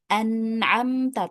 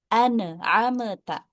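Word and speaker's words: أنعمت: An'amta, tapi dibacanya dengan ameta.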